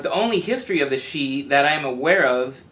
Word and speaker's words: Sidhe: Pronounced she, like Samhain is really pronounced Samhain for you Halloween fans. Gaelic's a strange language. They relate them to the Tuatha Dé Danann and then claim that the she were once gods.